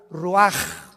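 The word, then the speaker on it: רוח: Roach así como suena se pronuncia la c en hebreo como J ruaj se les só y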